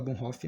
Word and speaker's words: Bonhoeffer: meses coisa interessante sobre o bonfe vou falar bom fique mais a pronúncia correta segundo o professor Luterana dia Cris bom Rafa Mas se eu falar bohnhoff é como eu ouvi primeiros coisa interessante sobre